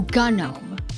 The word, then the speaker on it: GNOME: Technically hard g Oh, gnome.